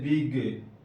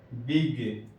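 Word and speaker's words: big: نہ ہو تو ویسی صورت میں جی کا تلفظ گاف سے ہوگا. جیسے بگ، دیکھیے جی آخر میں آیا لیکن اس کے بعد کوئی حرف نہیں ہے، بگ.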